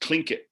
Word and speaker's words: Tlingit: Tlingit, and that's pronounced Tlingit in Alaska.